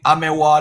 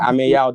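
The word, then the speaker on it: Ameyaw: Amewa the Third, right? Yeah. Ameyao the Third. Yeah. So even me, Amewa. It's spelled name.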